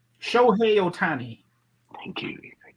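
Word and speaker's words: Shohei Ohtani: You can pronounce this right. Shohei Otani.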